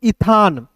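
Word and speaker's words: Ethan: तो यहां पे एक नाम है इसे पढ़ेंगे दोस्तों ईथान। ठीक है? इथान क्या एक नाम है।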